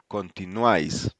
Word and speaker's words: continuáis: Then we have uai or uai pronounced like the wa we y in wise. Wise. Yes. So we have continuáis Continuáis.